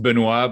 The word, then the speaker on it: Benoit: you everybody for for having me it's actually pronounced Benoit but it's okay I don't expect people to